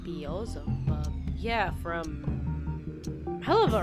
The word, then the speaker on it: Beelzebub: That's how you pronounce the name. Beelzebub.